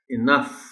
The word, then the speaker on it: enough: So आपको ये specially बताना पड़ेगा बच्चों को कि ये इसकी साउंड जो है इस वर्ड की एनफ नहीं है। वो सारा जो स्ट्रेस है वो एन पर है, ई पर बिल्कुल नहीं है। सो they will be pronouncing the word as इनफ, इनफ।